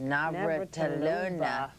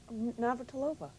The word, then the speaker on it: Navratilova: up there with Martina, say that last, Navratilova. You said it wrong. Navratilova.